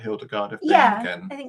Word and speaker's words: Hildegard of Bingen: Oh, I think it was to write the rest of the episode about Hildegard of Bingen.